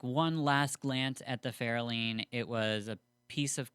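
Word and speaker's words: Ferolind: Fairlean, by the way, is how you pronounce it. I didn't know that until this episode. I heard it in the actual audiobook. Okay. Yeah, I was calling it Fairlined or something.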